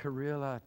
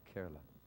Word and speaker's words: Kerala: Kerala to Sikkim. Hallelujah. Kerala, right? They said it wrong. Kerala.